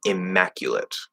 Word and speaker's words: immaculate: know what that means, geminate means basically you're going to like hold it down, right? Like you're doing two M's instead of one because it's spelled with two. And number one, I would say that not all native speakers of American English do that because I don't do that.